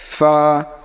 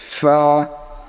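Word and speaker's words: فاء: লাগে আইন এরকম পরেরটা দেখেন তারপরে কি ফা উচ্চারণ হবে নিচের ঠোট উপরের দাঁতের সঙ্গে লাগাইয়া ফা ঠিক আছে ফা পরেরটা দেখেন কফ কফ স কফের যে উচ্চারণটা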